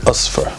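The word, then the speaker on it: أصفر: same us for and i'm pronouncing it in its arabic package that's how it's pronounced in arabic osfar us first the name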